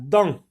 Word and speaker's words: dent: La dent.